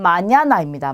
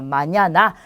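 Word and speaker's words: mañana: 그래서 빠뉴엘로 이렇게 발음이 되고요. 자, 얘는 마냐나입니다. 마냐나.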